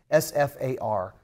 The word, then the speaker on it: SFAR: farar he goes it's it's not farar it's just SF a r and then I looked